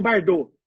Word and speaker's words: Bardin: A principal técnica, como o doutor Tiago pesquisa na hora tudo que eu falo, chama análise do discurso de Bardot, que se escreve Bardin.